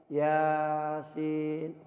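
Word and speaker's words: يس: situ adalah karena ada tanda baca panjang seperti alis itu maka dipanjangkanlah minimal minimal ya dua harokat atau sampai 64 harokat atau dua kali maka dengan begitu kita bisa melihat Oh bacanya Yasin 2 harokat aja satu Alif satu Alif tidak boleh dibaca tanpa panjang minimal Dua Apa Dua harokat atau satu Alif dua ketukan ya si Yasin jadi cara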